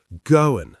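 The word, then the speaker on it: Goan: Goin, spelt G-O-A-N, pronounced goin.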